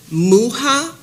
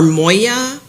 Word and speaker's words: Muha: and they've all been the same brand called Muha or Moya. It's spelled M-U-H-A, which can be found online despite age restrictions.